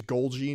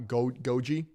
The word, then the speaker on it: Golgi: It's Golgi, not Goji. The L is silent, like in lasagna.